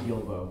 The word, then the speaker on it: Guilbeau: bird as always yes with the one the only who's deroga I don't know it's actually Gilbo but that's fine everybody